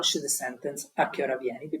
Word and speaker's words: a che ora: So you start with an neutral tone, a che ora, here you rise, And it tells you even the vowel O of ora has to be clearly pronounced. So it doesn't die in your mouth. It has to be clear. And then it goes higher on ra.